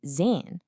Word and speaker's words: zehn: That German Z, it's not the buzzing Z's sound we use in English. Nope, it's a really sharp ts sound. Think of the sound at the end of the word cats. Ts. You hear it in zwei for 2 and zehn for 10.